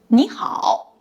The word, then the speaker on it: 你好: When combined, the tone of 你 changes. 你好 changes to 你好.